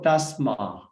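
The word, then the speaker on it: tasmā: So Ta, after that, S and M together, so double consonant. So Tasma. We need to pronounce that. Tasma. So Ta change to Ta. Tasma. Because this double consonant follow.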